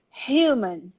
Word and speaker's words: human: in portuguese okay and this u becomes really like i you human repeat with me at